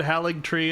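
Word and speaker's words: Haligtree: oh search the memory I said halig tree and then I was like did I pronounce this right and mat trus was like yeah you did when I also tried haly tree I heard it somewhere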